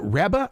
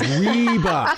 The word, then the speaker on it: Reba: I said I said who is it rebba rebba is that how you say it and he goes reeba so I I've been